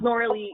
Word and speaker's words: Norley: It's Norley. It rhymes with Sarah Lee.